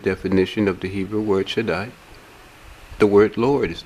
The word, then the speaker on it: Shaddai: Strong's reference H7706 is pronounced Shaddai.